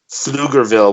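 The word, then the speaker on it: Pflugerville: article they mention the town of fluger which is PF l u r FL fluger bille fille they mentioned it like 20 times why is there a silent p on your town get rid of the P what the do you need the P for see no this is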